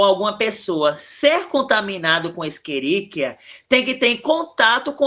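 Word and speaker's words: Escherichia: A gente aqui temeríia, só que a gente pronuncia esqueríquia, cole.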